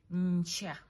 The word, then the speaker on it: nkyali: Nkyali means tomorrow.